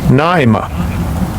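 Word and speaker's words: νόημα: Let's go ahead and get the pronunciation of it. Strongs G3540 Naima.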